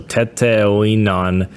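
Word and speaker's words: Teteoinan: Tonin. Oh my pronunciation here. Teton. Teton. That's spelled T E T E O I N A N. So tetan my mother come to me come to me.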